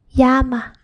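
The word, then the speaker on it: llama: The next one is double L which is called a The pronunciation is yeah just like how English y is pronounced. For example, yama. Yama means flame means flame.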